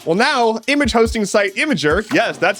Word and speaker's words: Imgur: Well, now image hosting site Imgur, yes, that's how it's pronounced, is doing the same thing.